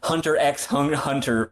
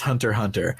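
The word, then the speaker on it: Hunter × Hunter: they fell in love and you got some Hunter X H Hunter fanfiction oh my God oh it's pronounced Hunter Hunter I know shut the up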